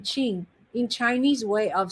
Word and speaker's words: Qing: be q-i-n-g and and that makes the sound of cha q is is a pinging pinging is a way of helping you to pronounce chinese uh mandarin q is like that q and g become qing oh very cool if